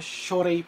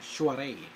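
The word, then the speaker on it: soirée: Ito naman, Shuaray pala ang basa doon. Ang pronunciation. Shuaray.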